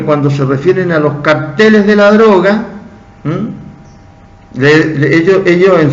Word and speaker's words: cartel: Y cartel se dice cartel. No se dice cártel.